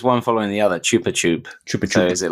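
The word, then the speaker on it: Chupa Chups: online that apparently uh it's not pronounced choppy chop it's actually pronounced Chupa chup because it's Spanish I believe it's it's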